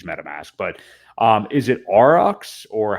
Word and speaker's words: Aurox: like and use metamask but um is it aurox or how do you actually pronounce it is pronounced RX um and I'm gonna post a link here